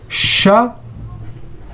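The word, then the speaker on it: شغب: In Arabic we say sheen plus ghain plus ba, which is shaghabun.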